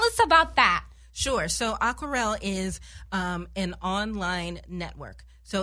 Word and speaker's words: Aquarelle: And your company is called Aquarelle. Yes. Yes, I said it right. So tell us about that. Sure. So Aquarelle is an online network.